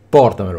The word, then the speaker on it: portamelo: portamelo telefonami portamelo telefonami quindi portamelo sulla sulla o ma vedete che c'è